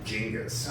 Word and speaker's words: Genghis: Supposedly, the correct pronunciation is Genghis.